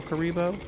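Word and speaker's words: Kuriboh: thing from Yu-Gi-Oh so I read it as kuribo but it's k u r i b o h and then versus no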